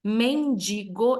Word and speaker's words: mendigo: Mendigo, essa é a pronúncia correta da palavra, e é iogurte.